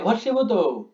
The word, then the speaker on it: ভস্মীভূত: ভস্মীভূত। ঠিক আছে, ময়ের উচ্চারণটা আসে না, তাই ভস্মীভূত বলা হয়।